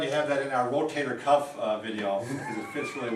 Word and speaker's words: rotator cuff: It is not rotary cuff.